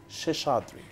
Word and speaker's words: Sheshadrie: It's Sheshadrie.